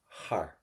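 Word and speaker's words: thar: And again, don't pronounce that T, har, because it's got a H.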